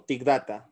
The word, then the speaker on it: thick data: Data o si no una pronunciación para los que saben inglés sería tick date Bueno yo no sé mucho inglés Pero bueno todo caso voy a utilizar titic date o ti Data de las dos formas me siento más cómodo pronunciando como nosotros en español pero bueno hay gente que le gusta bastante el inglés entonces seguramente prefiera tick date eh ti date como